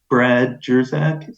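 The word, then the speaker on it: Brad Jersak: episode of yours that I listened to with Brad Jerzak.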